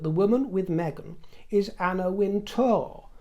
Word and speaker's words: Anna Wintour: If you knew anything about the fashion world, you'd know that the woman with Megan is Anna Wintor, not Anna Winter. It's to t o r. So you pronounced her name incorrectly because I said Anna Winter.